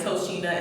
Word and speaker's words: Tochina: the way it's spelled you think it's pronounced as a ch but the c is pronounced as the s my dad wanted to